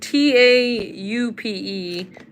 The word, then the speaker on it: taupe: is what the taupe it's spelled t a u p e but it's pronounced taupe he said what the